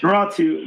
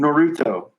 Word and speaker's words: Naruto: Noratu. Naruto. Wow, we sound out of touch. Noratu. God. I give up. You guys know what we're saying. Mm-hmm. Naruto, I think is how you pronounce it.